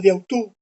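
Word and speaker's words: διʼ αὐτοῦ: Esto se pronuncia pegado, diautú.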